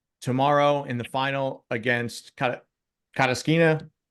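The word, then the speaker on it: Kasatkina: So you mentioned that Rybakina is playing tomorrow in the final against Kataskina. How do you say her name again? Yeah, that works. Kazakina.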